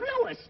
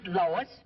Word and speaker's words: Louis: the plant Lois Lois me name is LS not Lois J W everybody enolates me name wrong it's LS l o u i s Lois uh Louise Lucy